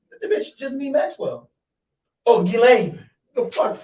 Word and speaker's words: Ghislaine: She Who the knows fuck is Jizzanine? the bitch Jizzanine Maxwell. Oh, Ghislaine. The fuck? I said, who? Jizzanine. That's what the bitch's name was. No, Ghislaine. My bad.